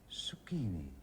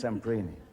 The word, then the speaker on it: Semprini: Zucchini. Have you got the pronunciation wrong? Not Semprini, is it? That's what I meant. Oh, yes, Semprini.